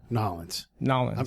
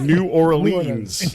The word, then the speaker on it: New Orleans: Sorry, Nolens. I'm trying to learn how to say it right. There you go. I'm such a white dude. I'm like New Orleans.